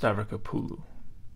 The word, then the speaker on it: Stavrakopoulou: And also, it's pronounced Stavrakopoulou. Okay.